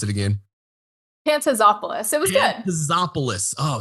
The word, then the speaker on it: Pantazopoulos: that last name Pantop hey please help me pronounce it again pantazopoulos it was good Panopoulos oh so close folks